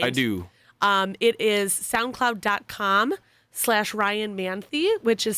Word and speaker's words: Manthey: But if you Google it, just SoundCloud Ryan Manthey, or Manthey is how you pronounce it.